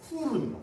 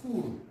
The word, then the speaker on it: Hur: 실질적인 발음은요. 후르입니다. 후르. 후르.